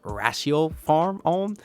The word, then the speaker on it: Ratiopharm Ulm: It looks like it's spelled Ratio Farm, but I do believe now that it's called Ratio Farm Ulm.